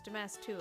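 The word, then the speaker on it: Damas II: Also, I believe it's pronounced Damask the Second. No, it's Damas 2.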